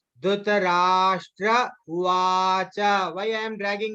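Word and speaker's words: धृतराष्ट्र: Or like here, whenever there is small dot on the S na, then we should pronounce it as Sha. Okay. Once again, I am just saying, see how I am just pronouncing. Dhritarashtra Uvacha.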